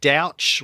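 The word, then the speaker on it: Dauch: Uh so the founding of this company AAM born in 1994 when Richard Dick Douch D A U C H pronounced Douch rhymes with ouch led investors to buy GM's final drive and forge unit and then they later IPOed in 1999.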